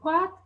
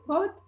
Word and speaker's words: Brot: in the first row it compares the pronunciations for "Brot", which is "bread", and in Passier dialect you would say "proat" and in Meran dialect, which is my dialect, it's said "prout", whereas in Bolzan you